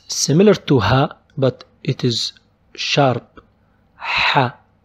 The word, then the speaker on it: ح: H. H. It's not H like H. It's just a little sharper. This sound is not in English. Just try to make it sharp.